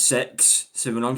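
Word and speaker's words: CeX: Genuinely, let me look at CX um which uh it's pronounced sex.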